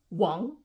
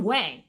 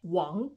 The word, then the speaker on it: Wang: G because they're so common these are not pronounced but like Wong not Wang Wong when a man name ends in e n